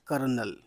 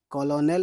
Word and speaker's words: Colonel: कॉलोनल लिखा है लेकिन अर्थ है कर्नल। र आ रहा है। इसमें बड़ी बात यही है। कॉलोनल लिखा है लेकिन कर्नल इसका उच्चारण या इसका तलफुज है।